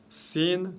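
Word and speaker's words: سين: Quand je dis c'est le S, c'est plus ou moins le S de la langue française prononcé légèrement. Je dis ça, et non pas ça.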